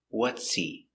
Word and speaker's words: what's he: What's he? What's he? The H is silent because the word is not stressed.